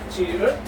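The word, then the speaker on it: 지읒: The next consonant will be the jiut. We call in Korea this one is jiut, or it has the English equivalence of CH or CH or letter T.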